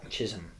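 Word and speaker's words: Chisholm: Yeah. Chisum. Like Jazz Jazz Jazz Chism.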